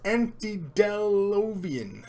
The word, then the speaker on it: antediluvian: you did dark mission pronounced aunty down low beam and refers to Biblical Flood antediluvian until LOV aunty you